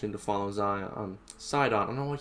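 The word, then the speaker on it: Sidon: to follow zia um side on i don't know what i keep saying zion too much mba going on my brain i guess guys it's side on i'll i'll get it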